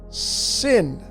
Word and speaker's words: Sin: and then you have the same letter Shin but now it's pronounced sin and the sphere goes